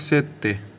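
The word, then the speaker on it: sette: उसके बाद है सात सात को बोला जाता सेत्य एसई डबल टी सेत से मतलब होता है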